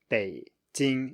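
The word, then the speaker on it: 北京: So 北京, it's just a low tone. It's pretty simple once you realize that. 北京, low high, 北京, and then 老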